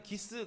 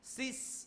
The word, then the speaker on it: 시스: 그러니까 우리는 기스 그러면 뭐 이렇게 뭐 스크래치 뭐 이렇게 느껴지잖아요. 근데 원래 헬라어 표기대로 그대로 쓰면 어떻게 되냐면 시스 이렇게 읽어야 돼요. 시스. 앞에가 기역자 발음보다는 쌍시옷에 가까운 그런 발음이 나요.